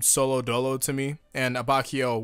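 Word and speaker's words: Abbacchio: Fugo has always seemed solo dolo to me, and Abacchio, which is apparently how you say it right now, and it's not Abacchio, which I was just astounded on, is actually the true hard ass.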